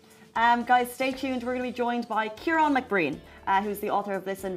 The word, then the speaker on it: Kieran: I've been called many names since I left Ireland, but Kieran is the correct pronunciation.